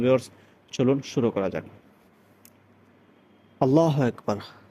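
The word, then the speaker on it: الله: আল্লাহ শব্দের লামের পূর্বে যদি জবর অথবা পেশ হয় তাহলে ওই লামকে মোটা করে পড়তে হয়। অতএব আপনি যদি বলেন আল্লাহ আল্লাহ যদি বলেন তাহলে পরিপূর্ণ শুদ্ধ হবে না অর্থাৎ ফুর হবে না বলতে হবে আল্লাহ আল্লাহ লামটাকে মোটা করে পড়তে হবে আল্লাহু বড় হাল্লাহু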